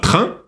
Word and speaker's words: train: Обращай внимание на слово «train». Это еще носовой звук «un». «N» не читается, сочетание букв «a» и «n» читается «un», как цифра 1, 1.